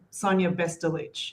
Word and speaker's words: Bestulich: The exact pronunciation is Sonia Bestulich. So it's got the ich sound at the end.